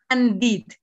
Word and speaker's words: handed: Hand, en presente, handed, como está aquí entre slash, handed.